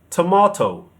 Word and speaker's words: tomato: But Americans say tomato. Tomato. The stress is on the first syllable. But also there's a D in there somewhere.